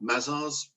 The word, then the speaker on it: Mazars: Now, I need to pronounce this well. Mazars, William?